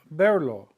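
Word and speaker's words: verlo: of an infinitive K berlo okay there is no accent mark here because it ends in a vow the stress is on the E K berlo I want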